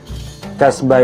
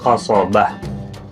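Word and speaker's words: قصبة: Kasbah itu dari bahasa Arab, pelafalannya itu adalah qasobah, gitu ya, al-qasobah. Jadi kemudian dalam penyebutannya jadi kasbah atau kemudian jadi kasbah.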